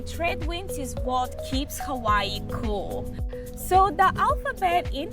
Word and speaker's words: Hawaii: But in Hawaiian language, W in the middle is pronounced V. So for example, Hawaii, it's not Hawaii, it's Hawaii.